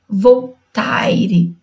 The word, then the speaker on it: Voltaire: Cuidado para não falar como se escreve Voltaire, ok?